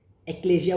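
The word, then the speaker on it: एकेलेज़िया: एक्लेजिया बोलते हैं उसको, एक ए से स्पेलिंग है उसकी, एक्लेजिया बोलते हैं।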